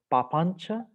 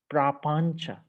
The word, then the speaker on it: papañca: these two terms about papancha and nippapancha. Actually, papancha is Pali word. In Sanskrit, it said prapancha. So Pali doesn't have a R to pronounce. Papancha. Sanskrit say prapancha, but it means I'm back return to the English.